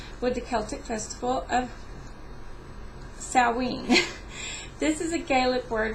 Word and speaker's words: Samhain: Samhain is spelled a little more different, but it is actually pronounced Samhain.